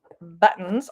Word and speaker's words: button: could say and so we say button like we say Mitten and like we say kitten we have that glottal T sound there so I would